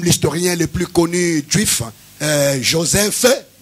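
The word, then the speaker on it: Josèphe: le plus connu juif, Joseph, je les prononce comme ça parce qu'il y a E à la fin, qui a écrit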